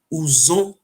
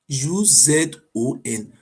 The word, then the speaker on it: Uzon: These are see this is a real, if you want to pronounce their real name, is call it Uzon. U-Z-O-N.